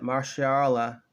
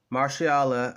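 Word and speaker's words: Mahershala: which was July the 20th they announced that marshal Allah from pronouncing his first name correctly Marcy Allah Ali will be playing the role of bullet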